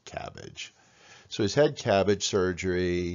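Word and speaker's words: CABG: post coronary artery bypass graft often pronounced cabbage so his head cabbage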